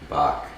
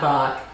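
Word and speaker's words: balk: to bulk but now we're talking bulk is pronounced bulk buck it is not bach what a picture box is yeah baseball no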